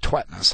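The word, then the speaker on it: Tvedtnes: scholar John a tetnus he says to pronounce it tweetus I've always called him tetus and he hasn't been offended yet so John I'm going to call you tetus interesting name isn't it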